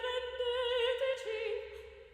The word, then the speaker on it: rendeteci: This is Mozart, so felici rendeteci. Okay, so accentuation happens always in the penultimate syllable, okay? Rendeteci, okay? The chi is really soft and up, okay?